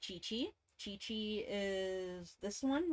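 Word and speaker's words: Qiqi: Chi-Chi is this one right here, like Q-I-Q-I.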